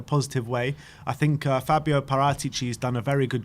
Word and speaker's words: Paratici: Paratici. That's how you say his name. That really I got told off by calling him Paratici. So like parrot.